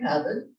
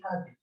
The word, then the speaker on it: Pavitt: That's Henry Pavitt. And somebody asked me how to pronounce his last name. He was born in Switzerland. It's Henri Pavitt, not Pavitt.